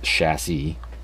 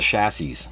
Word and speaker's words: chassis: I guess the S is silent. It's chassis. But when I grew up, everybody I know in the town that I grew up in called it a chassis, whether it was your